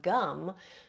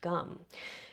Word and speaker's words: Gam: Like you can call in the god Ganesha just by simply intoning his seed sound gum, which is spelled Gam but pronounced gum.